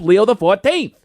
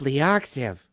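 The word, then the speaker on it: Leo XIV: Pope Leo uses the X, the I, and the V as Roman numerals. So, he's Pope Leo the 14th. I always thought he was Pope Leoxiv.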